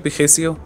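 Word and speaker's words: Précieux: और प्रिशियो एक French word है जिसे फ्रेंच में पिखेसियो और इंग्लिश में प्रिशियो प्रोनाउंस किया जाता है जिसका मतलब होता है प्रेशियस, वैल्यूएबल या नायाब।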